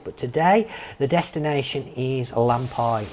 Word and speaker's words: Lampi: today the destination is lampi waterfall sometimes pronounced lampy there are two spellings